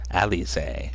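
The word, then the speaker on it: Alisaie: Alize. That's how you pronounce it.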